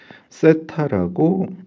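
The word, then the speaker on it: θ: 위상은 페이지라고 얘기를 하고요.요 부분은 세타라고 읽습니다.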